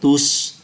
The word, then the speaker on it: tous: Une bibliothèque ouverte à tous, ouverte à tous. Tous là một đại từ, cho đó chúng ta phải phát âm ký tự S.